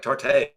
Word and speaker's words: tarte: but we don't pronounce it tarte. It's just tart.